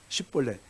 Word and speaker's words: 십볼렛: 십볼렛. 십이라는 첫째 단어가 히브리어로 신신 타오 맨 마지막에 나오는데 부드러운 의미예요. 그래서 그 SH 발음이 나는 거예요.